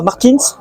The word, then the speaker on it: Martins: Bonjour Jérémy Ferreira Martins, comment ça qu'on prononce?